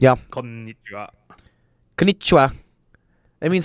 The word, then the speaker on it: Konnichiwa: konnichiwa. Konnichiwa. That means like hello, right? Kon- In Japanese. Konnichiwa. Konnichiwa. It's Konnichiwa. gonna take a while. Konnichiwa. Konnichiwa. Konnichiwa. You hold on to the N.